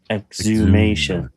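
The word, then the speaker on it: exhumation: exume the body exume the body exumation Um, he died in prison in the most pussiest of ways.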